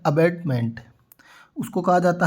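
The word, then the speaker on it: abetment: सामने जो वर्ड दिया हुआ है वो है अबेडमेंट। तो सबसे पहले हमें इनका उच्चारण है वो प्रॉपर पता होना चाहिए। प्रोनाउंसिएशन होता है वो अच्छे से आना चाहिए। तो लिखा है फर्स्ट वर्ड हमारे पास है अबेटमेंट।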